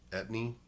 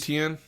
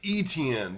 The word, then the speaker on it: Etienne: Etney. I don't think it's pronounced Etney. Jacksonville's running back. Dude has- Etienne. Etienne.